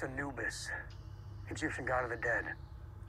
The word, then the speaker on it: Anubis: Anubis this is the Anubis Anis uh-huh it's pronounced anubus Egyptian god of the Dead mhm anus works